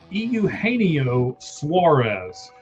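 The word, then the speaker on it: Eugenio Suárez: I'm going to help you pronounce his name for you. Euaneo Suarez.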